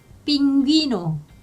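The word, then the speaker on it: pingüino: 이거는 귀로 발음해요. 우리 귀처럼 귀. 그래서 빙귀노, 빙귀노 이렇게 하시면 되는 거예요.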